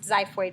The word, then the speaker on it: xiphoid: it tricky you would spell it with an x but pronounced xiphoid process so those are the